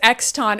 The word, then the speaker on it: Exton: I can't believe it's Exton, which, by the way, listeners, it's spelled E-X-T-O-N. It's not like X... hyphen ton. No, but I think the point is to make it be X something. Yeah, guess. X. It sounds like the Exxon Mobil company.